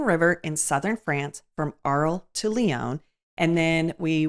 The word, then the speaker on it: Arles: And I was watching one of the hosts say, so now we're going to take you through a tour of Arles. I'm like, that's it. It's Arles.